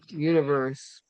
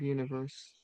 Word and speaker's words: Univers: I haven't heard of Universe. Email, How do you say it, Peg? Univer. It's Univer, no S. there's no E on the end. But you don't pronounce the S.